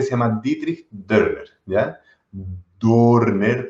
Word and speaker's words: Dörner: Dörner, pero con dos puntitos, entonces se pronuncia Dörner, según me enseña mi mujer.